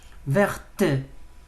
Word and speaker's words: verte: Il y a un E, prononce-moi. Verte, vert, il n'y a pas un E.